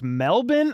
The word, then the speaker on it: Melbourne: Melbourne is pronounced Melbourne. Oh my god.